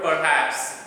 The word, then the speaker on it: perhaps: Whereas the final syllable is stressed in the pronunciation of the word perhaps, and if we want